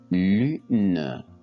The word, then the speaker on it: lune: est prononcé à l'oral exemple lune lune l u n lune donc la syllabe orale